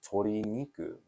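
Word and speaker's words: 鶏肉: because it just Katakana chicken right or it's Tori niku right but it's not as easy as saying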